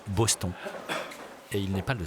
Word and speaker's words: Boston: Cyril Vigneault, lui, est un inconditionnel, et depuis longtemps, de l'équipe de Boston, qu'on prononce ici Boston.